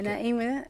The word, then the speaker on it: Naim: um to the introduction even if it's the pronunciation of your name yeah I well my you did say NAA NAA yeah NAA and um you basically said it right that's